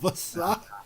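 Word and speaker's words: Vassa: Yo, The A is silent. The one in the middle.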